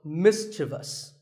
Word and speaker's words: mischievous: in the word mischievous this is not mysterious there is no I after the V the last syllable is just thus so mischievous and then there are